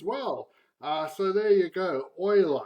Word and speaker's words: Euler: so there you go oil I that's how he pronounces his name because he was Swiss it's not Euler even though Europe is Europe he's not you apparently his oil are just like the Oilers down in Texas anyway enough jokes about